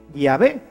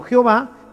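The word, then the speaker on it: Yahvé: llave y por eso nosotros sabemos que la pronunciación correcta de llave es así llave y no jehová que simplemente una una litera ción se fue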